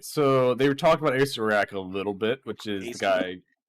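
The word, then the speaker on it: Acererak: Ace Arak, yeah, that's the way you pronounce it too.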